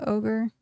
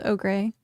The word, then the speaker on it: ogre: I used to pronounce uh ogre the way it was spelled og gray until someone enlightened me.